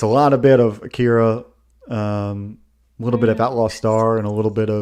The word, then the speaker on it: Akira: it right but Chris is what's the correct pronunciation for Akira Akira AKA okay H yeah yeah my weebery card